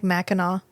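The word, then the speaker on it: Mackinac: second t sure sure it's fine it's like Mackinaw yeah the last NAC is silent uh anyway oh it's probably an indigenous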